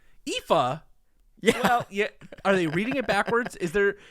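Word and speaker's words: Aoife: listening on the podcast the spelling is a o i f e yuffie you know that's actually not far off it's it's Eva IFA yeah yeah are they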